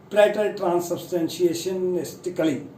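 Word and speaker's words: praetertranssubstantiationistically: तो इसकी जो प्रोनाउंसिएशन है वो है प्रेटर ट्रांससब्सटेंशिएशनिस्टिकली।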